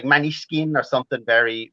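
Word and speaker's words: Måneskin: I'm pronouncing it Maneskin, which it's Danish for moonlight.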